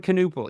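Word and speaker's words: Knueppel: Knuppel? The K's there. Con Knuppel. Yeah, that's right. That sounds more right.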